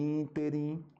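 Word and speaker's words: ínterim: a sílaba mais forte por exemplo ó o que nós temos aqui é o correto acentuação correta avaro sovina né o avaro sovina e interim recorde rubrica ibero tá ainda tem um aqui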